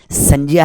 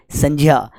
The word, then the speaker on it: संज्ञा: तो इसका उच्चारण करेंगे तो क्या होगा? जान। उसी प्रकार जब अपन कहते हैं ना, देखो ये संज्ञा नहीं है, ये क्या है? संज्ञा है। क्या ये? संज्ञा।